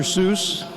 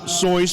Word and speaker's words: Seuss: Seuss it's very appropriate that it is actually pronounced sois because it rhymes with rejoice so we rejoice today